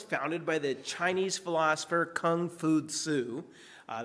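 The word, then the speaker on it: 孔夫子: So, Confucianism was founded by the Chinese philosopher Kung Fu Su. Uh that's how you say his name in Chinese, but in the West,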